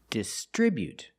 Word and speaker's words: distribute: We put the stress on the second syllable distribute.